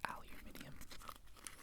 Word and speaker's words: aluminium: Yes, it's pronounced aluminium.